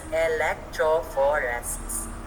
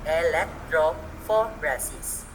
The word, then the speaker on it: electrophoresis: it's called the gel electrophoresis it's pronounced as electrophoresis it's pronounced as electro for rasis scientists use gel electrophoresis whenever they need to